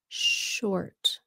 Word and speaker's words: short: Cô ơi, cô giúp con cách đọc sort với là short. Sort. Sort. S sound. Sort. Là giống như chữ X của Việt Nam đó. Like ông xã. Sort. Sort. Còn short. S-H. Short.